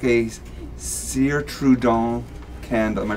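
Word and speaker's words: Cire Trudon: I'd like a Sire Trudon candle. Am I pronouncing Your pronunciation's that?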